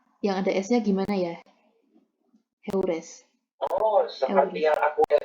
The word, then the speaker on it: heures: Tadi cara baca yang ada S-nya gimana ya? Heures.